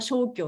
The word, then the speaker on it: 生姜: なんですけど生姜っていう字なんですけども漢方薬としては消去って読むんですねで